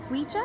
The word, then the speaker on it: Ouija: Ouija.